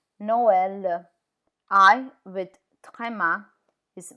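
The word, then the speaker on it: Noël: no l no l can you see how e is pronounced separate to O Noel which is Christmas Noel I with is mice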